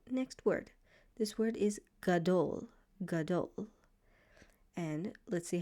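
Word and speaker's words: גדול: This word is gadole. Gadole. And let's see how to pronounce it.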